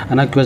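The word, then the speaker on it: innocuous: फिर हार्मलेस हो तो इसको हम लोग प्रोनाउंस कैसे करते हैं अनाक्यूस ओके अना क्यूस ओके अ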